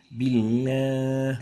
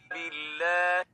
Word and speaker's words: بالله: The last mistake is giving ghunna for the lam, a nasal tone. بالله. And that's wrong. And the right way of pronouncing it is like this. بالله. Billah, not billah. That's wrong. Ghunna should not be associated with the lam.